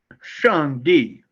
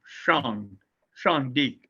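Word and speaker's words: 上帝: and how should I pronounce it? Shang-Di. Shang-Di. Okay. But your tongue on the SH has to go back to the back of the mouth. Shang-Di.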